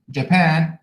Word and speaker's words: Japan: So in the word China, first syllable, Japan, second syllable, hotel, second syllable, interest,